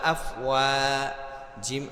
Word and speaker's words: أَفْوَاجًا: ওয়াও আলিফ জবর ওয়া, আফ ওয়া, জিম আলিফ দুই জবর জান, আফ ওয়া জান, এখানে আফ ওয়া যা হবে। দুই জবরের পরে এক আলিফ খালি আলিফ যদি থাকে তাহলে আফওয়াজা এভাবে উচ্চারণ হবে।